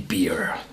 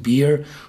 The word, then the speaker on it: Bere: mitgebracht einen Aron Orne beer ja jetzt sagen sich Bier was ist hat mit Bier zu tun ah das schreibt sich ein bisschen anders schreibt sich Beere B und spricht sich nur Bier aus und dabei handelt es